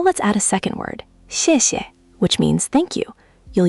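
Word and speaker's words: 谢谢: The first 谢 takes a falling 4th tone, sharp, like you're gently scolding someone. The second 谢 is light and neutral, almost swallowed. Listen. 谢谢. You're getting better each time. Just let that second syllable fall away even softer. Don't give it equal weight.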